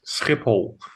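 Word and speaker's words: Schiphol: Wait, is it Shipple or Skipipool, right? It's it's Skipipole.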